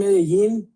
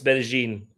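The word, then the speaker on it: Medellín: I recommend Medí. Medí. He said it right. No, he said it wrong. It's Medigene. Um, Medigene. You're right.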